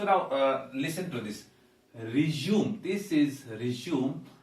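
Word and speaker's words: résumé: uh listen to this resume this is resume and this is resume actually this word does not belong to english and it has come from french or perhaps another word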